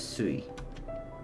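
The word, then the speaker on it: すい: Uh the reading changes and water is pronounced as sui.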